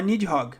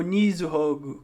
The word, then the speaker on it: Nidhogg: Quando vocês ouvirem os personagens falando no anime, eles vão falar Nidhogg, tá? Ou Nizuhogg, que é a pronúncia em japonês.